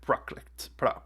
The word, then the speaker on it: Prakrit: Okay, he said it Prakrit.